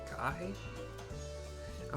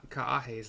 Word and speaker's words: Kaahe: all the other times if you see like a a you got to pronounce both A's so this is kah